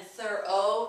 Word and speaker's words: thorough: I'm sorry, like through, to, and thorough. That's a long O like go.